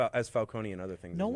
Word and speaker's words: Falcone: Falcone. I thought it was Falcone. That it is in The Dark Knight. In this, it's Falcone. I've heard it pronounced as Falcone and other things.